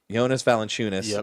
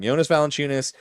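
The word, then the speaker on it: Jonas Valančiūnas: Uh wait, Jonas Valenunis, I almost said his name wrong. Yonas Valenunis, uh basically traded straight up for Dario Sarich, who played no minutes last year.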